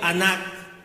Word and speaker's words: anak: Esta palabra gemir viene, para los que anotan, del referencia Strong H584, que es el hebreo anak, como escribir ana, K y J al final, acento en la segunda A, que es suspirar y lamentar.